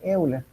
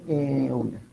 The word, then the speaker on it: Euler: Se le conoce como identidad de Euler.